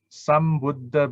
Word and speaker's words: Sambuddha: So when Sambuddha, because of Buddha B, start with the B, so the sang becomes sam.